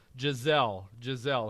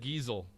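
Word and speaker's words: Gisele: I remember when I pronounced this on the show and I totally botched it, but it is Giselle, hurricane or supermodel? Supermodel. Supermodel. She's the one married to Tom Brady. Yep. I said Giesel.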